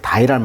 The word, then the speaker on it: dye: 우리가 이제 색소를 이제 그 염색을 한다 할 때 dye라는 말 쓰거든요. D-Y-E. 그러면 우리가 죽다 할 때는 D-I-E잖아요. 그러니까 발음이 똑같아요.